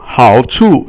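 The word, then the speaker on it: 好处: So 好处 is the next one after that. 好 is third tone, and 处 is silent or 轻声.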